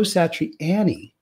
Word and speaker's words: Satriani: when i interviewed him is joe satriani that's the way he calls it joe satriani so i've been saying it wrong for all these years